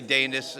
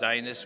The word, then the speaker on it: Danis: I say Danis. It could be pronounced Dinas, but I'm Danis.